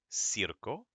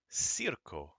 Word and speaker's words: circo: SE as in Cerro c i goes c as in Circo goes CO as in Coco CU goes KU as in Kubo so we have casa cero Circo and again please don't